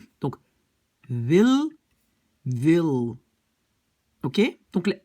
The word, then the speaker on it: wil: Donc le W est beaucoup plus comme un V. Alors, j'ai écrit en Flandre, on va dire wil. Donc déjà, le W, c'est V, hein, avec les lèvres, wil. Et le L est un peu plat. C'est-à-dire, donc, aux Pays-Bas, le L, je l'ai mis en double. Pourquoi? Parce que c'est beaucoup plus comme en anglais.